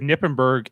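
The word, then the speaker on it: Knippenberg: and I think it has to do with Nippenberg and his wife Angela.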